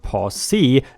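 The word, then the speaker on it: posse: indians the sheriff gathered a pose pronounced pause c and got her back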